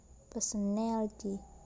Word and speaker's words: personality: and suffix algae so in what personality the stress moved from per in a person to the syllable in personality the other example is